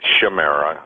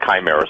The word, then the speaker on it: chimera: but the word chimera some people pronounce that shimira a pronounced chimera ch Amer a nabis obviously excuse me John